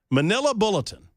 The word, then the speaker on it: Manila Bulletin: I might be mispronouncing it, but it's MANILABULLETIN, which is pronounced Manila Bulletin.